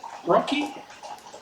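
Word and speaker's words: RoCE: the cards we have we use rocky roc pronounced rocky for some reason and that's basically infiniband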